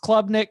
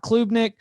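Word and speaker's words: Klubnik: uh club i believe club nick is pronounced club nick not klubenik you all talked about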